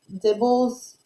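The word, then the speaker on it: DIBELS: little bit also about, I think it's pronounced dibbles. I looked it up. The lady said dibbles. Some people say dibbles. This lady said dibbles. So I'm just going to call it dibbles.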